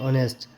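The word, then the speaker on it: honest: कहां पे नहीं होगा यहां पे साइलेंट एच है ठीक है तो एच ओ यू आर आवर एच ओ एन ई एस टी ऑनेस्ट rhythm R एच वाई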